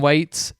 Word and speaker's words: Waits: Tom Waits, Selena Gomez. Tom who? Tom Waits. Tom. Waits. No, you're supposed to say it like waits Waits. because he's waiting.